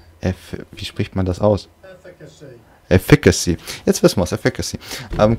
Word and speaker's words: efficacy: Wie spricht man das aus? Efficacy.